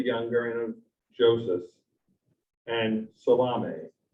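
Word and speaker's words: Salome: and of joseph and salame which i'm told not to pronounce solomon which is what i would ordinarily do in galilee these women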